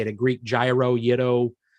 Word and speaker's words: gyro: Yeah, it is spelt gyro, but my mother lived in Greece for 2 years, and she said it's yiddo is how they say it.